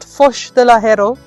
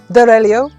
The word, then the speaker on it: Foz do Arelho: Portugal, in a place that I can't yet pronounce, with a person who must not be named. Sorry, no, I think it's called Foz de Lahero. No, close. Dorelio.